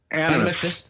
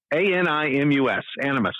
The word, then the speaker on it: Animus: Animist. How do you say it? Animus.